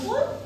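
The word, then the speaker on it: pull: কখনো ইউ এর উচ্চারণ কি? উ হইতেছে। কখন? পি ইউ এল ফুল। পি ইউ এস H push. Push আর ফুল। কেন এখানে পুল আর বুঝছে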